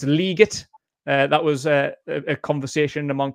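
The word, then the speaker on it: Legette: It's Leggett. That was a conversation among Panthers fans because Roger Goodell pronounced it Leggett, and everyone laughed at him, saying that it was wrong.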